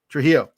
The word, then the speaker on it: Trujillo: fun uh so Josh I'm gonna say his name wrong Trujillo Trujillo thank you that I that made sense to me but I didn't trust myself and uh and Josh so